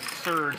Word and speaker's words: Serge: nice to meet you Serge like the cola how do you spell Serge s e r g